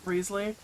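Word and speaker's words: Wriothesley: Ryzley or Rezley. Rezley, his voice sounded way different than what I pictured his character voice to actually be.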